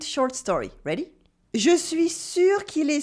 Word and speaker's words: sûr: Je suis sûr qu'il est sourd. Je suis sûr qu'il est sourd. I'm sure he's deaf. Here you have the difference between sûr and sourd.